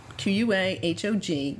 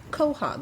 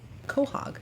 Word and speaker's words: quahog: have a quahog now there you spell this q-u-a h-o-g but you pronounce it quahog apparently i have been pronouncing it wrong all this time so that is a quahog not a quahog and this is another one